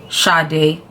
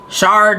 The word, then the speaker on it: Sade: fact that you guys don't even know how to pronounce her name shade she's Nigerian my actual my true Nigerian name or the true Nigerian pronunciation was closest I can get to it is uh